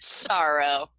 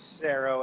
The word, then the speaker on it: Saro: the name come from is it cero or is it sorrow its cero as an arrow and this arrow comes